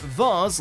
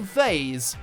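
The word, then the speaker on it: vase: can pronounce this word whether it said VARs like Mars or phase like Hayes generally the former is the British version and the latter the American when eBay users were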